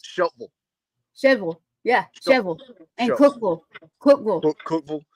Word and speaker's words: Shelbyville: spot out here called Shelbyville yes it's not pronounced Shelbyville it's pronounced shille shevel yeah shevel cille Cookville Cookville everything yeah yeah